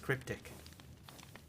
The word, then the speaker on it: crypt1c: uh It Is by cryptic hang on it's by crypt1c apparently his name is pronounced cryptic antimatter Camp definitely yeah